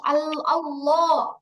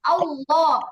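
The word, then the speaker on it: الله: আল্লাহ শব্দের লামকে মোটা করে পড়ব তখন লামটা আল্লাহ আল্লাহ এই আল্লাহ লামটা উচ্চারণ করার সময় যেবার আগাটা দুই দাতের আগায়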